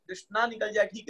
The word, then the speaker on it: कृष्ण: की भाषा में आती है, पर बोला हरे कृष्ण, अच्छा कृष्ण हो जाता है, पर हरे कृष्णा हम बोल देते हैं।